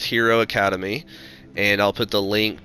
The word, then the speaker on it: Hiro Akademi: is just the beautiful Park is called or pronounced Hero Academy and I'll put the